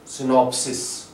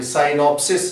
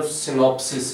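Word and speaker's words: synopsis: जिस तरह के हादसे सिनॉप्सिस यह साइनोसिस नहीं यह सिनॉप्सिस है और यह वीडियो में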